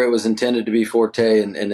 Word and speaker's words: Forte: was intended to be Forte, and I think the word comes from Italian that was actually Forte or something.